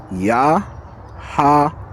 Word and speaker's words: Yahawah: Yahwa. Yahwa.